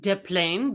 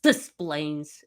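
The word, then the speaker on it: Des Plaines: It'd be nice if we pronounced it deplain because that would be more in keeping with the airport, but you know, it's displayplains.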